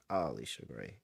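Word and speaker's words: Allisha Gray: we go all right Alicia gray a Alicia gray make sure you say all that's how she said you pronounce it man she's been really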